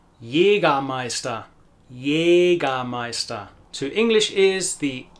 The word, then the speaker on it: Jägermeister: Jägermeister.